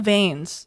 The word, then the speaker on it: Veins: new girlfriend Kathy Galvin just think of vains like his name is spelled like veins just the eyes backwards when I think of